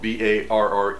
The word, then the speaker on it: barre: what bar chord means bar spelled ba RR e is from the French pronounce bar meaning bar and what that's